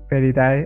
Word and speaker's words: Felidae: Feridae, ajá, así se escribe Feridae, como suena. Como Feli de felinos y Dae como la Dae, ah, perdón.